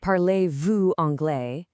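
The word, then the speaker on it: parlez-vous: Pronounced parlay vu, it means, "Do you speak English?"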